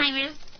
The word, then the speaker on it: Alzheimer's: Alzheimer's. You're right. You're actually right. He's wrong. Right. He actually pronounces the Z just because of the Z in the word.